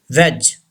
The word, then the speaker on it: wedge: Wedge. D should be silent.